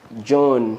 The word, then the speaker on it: Joan: She is in the person of John.